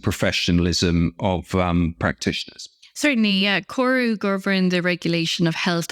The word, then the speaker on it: CORU: Am I pronouncing that right? CORU? Sure, indeed. Yeah, CORU, the Irish regulator in the Irish healthcare system,